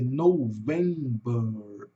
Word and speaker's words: November: Vai ser november aqui no final, né? Tanto que a sílaba atônica é assim, começa fraca, sobre para o vento e desce no bur, né? November. Tá?